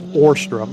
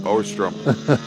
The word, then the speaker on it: Ostrom: that we have been pronouncing Clark ostrom's name wrong it's orstrom orstrom so uh we apologize